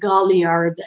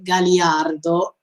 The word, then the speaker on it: Galliard: Yeah, we see finally Galliard. Okay, look, every time in episode 1, I asked myself, who is this Galliard? Okay, yes, I know that is Galliard and it's not Galliardo.